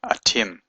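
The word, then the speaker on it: אתם: little seagull here and this dot here means it's a a doubling of the left hard letter atim so that means you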